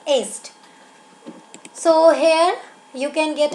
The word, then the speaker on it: Yeats: This is the pronunciation of Yeats, not yeast. Okay, it's Yeats.